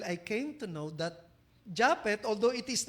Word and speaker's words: Juphet: Oh now maybe you are contesting why Japet uh my name uh pronounce as Japet IJU yan Jupit ay nanay ko lang magtawag sa akin ng Jupit ba at first brother I